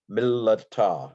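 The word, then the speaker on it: מִלְּתָא: And a gifted Hebrew speaker would be able to let you pronounce the doubled lamed, mil la ta, something like that, mil la ta. You would hear the second lamed if you were listening to a skilled Hebrew speaker.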